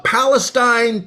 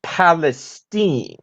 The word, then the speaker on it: Palestine: tonight doing great zeke but actually it's palestine oh well excuse me palestine so we're going with a hoity-toity pronunciation now are we well actually it's a good old texas pronunciation it's been that way for as long as i can remember why see well i stand corrected then don't want to mess with texas it's palestine not palestine well don't let it